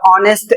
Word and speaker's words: honest: जैसे इसमें लिखा है द ऑनेस्ट एयर लॉस्ट ह ऑनर इन एन आवर।